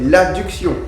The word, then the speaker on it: adduction: qui est l'adduction donc il y a une seule lettre de différence donc il faut veiller à bien prononcer le mot pour savoir de quoi on parle donc l'abduction avec un B c'est amené vers l'extérieur et l'adduction avec deux dés c'est ramener le membre